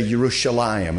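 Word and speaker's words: ירושלים: there like they say yerushalayim and we say jerusalem they say yerushalayim they don't pronounce the j like we do most languages don't have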